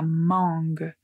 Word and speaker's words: mangue: Donc par exemple mangue, la mangue. Essayez de dire ce mot en anglais. Vous allez voir que la lettre N est quand même prononcée d'une certaine façon nasale, mangue.